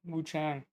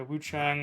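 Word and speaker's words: Wuchang: Wu Chang. Yeah, Wu Chang.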